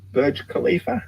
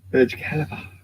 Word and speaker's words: Burj Khalifa: it called again something something over in arabia burj khalifa i think that's how you pronounce it burj khalifa anyway the world's tallest building is one half